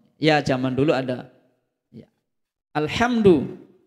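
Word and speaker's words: الحمد: Alhamdu bukan alkamdu ya arrahmanirrahim kan nanti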